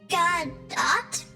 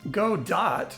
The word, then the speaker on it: Godot: to God do actually I've heard it pronounced a few ways go dot would make sense to me because we make dots go on the screen but but I'm told it was named after a character in a book so I'll